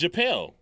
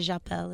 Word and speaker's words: Japel: Slow it down so we can say it. Japel. Japel? Oh, it's Japel. Well, that's the American way, yeah. Okay. And Japel is the real way.